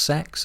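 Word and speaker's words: CeX: have a c or I don't know how you meant to pronounce it right is it meant to be pronounced sex I guess I've been told it is yeah yeah okay so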